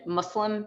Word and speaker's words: Muslim: i want to just call out the pronunciation on both of those islam and muslim because that's how we say those terms and that's how i